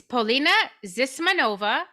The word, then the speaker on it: Polina Zismanova: All right, so tell us the true pronunciation and where you're from. it's Polina Zismanova, and I am born in Russia, Ah, and I came here when I was 7 years old.